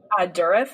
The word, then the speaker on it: Dourif: Dourif, I think, is how you pronounce the last name.